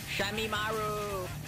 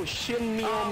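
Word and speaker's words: Shinmyoumaru: I actually pronounced her name right. Shamimaru. No, Shinmi Omaru.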